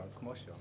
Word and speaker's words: Kmoch: You can say Kmoch or Kmoch.